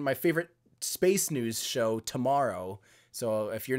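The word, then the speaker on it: TMRO: They do a fantastic production, but it's spelled T-M-R-O, to tomorrow, like tomorrow, T-M-R-O.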